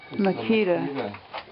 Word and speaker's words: Makita: mil a Milwaukee I think how do you pronounce that Makita Makita yeah Makita you like that brand huh yeah I did